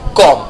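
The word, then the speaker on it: comb: तो कंघी को इंग्लिश में क्या कहा जाएगा कम सीओ एम बी कुर्सी ये भी घर में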